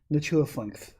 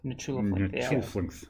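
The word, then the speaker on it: Nchuleftingth: This is a name from the video games. We've been pronouncing it Nichulaflinth. Nichulaflinth. Yeah. Say it really fast and hope no one catches you.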